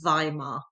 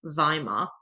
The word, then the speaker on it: Weimar: Therefore, the decision was taken to meet in the me more peaceful surroundings of the town of VHimar. So the W is pronounced as a V vhimar and it's that setting that gives its name to the government the VHimar republic.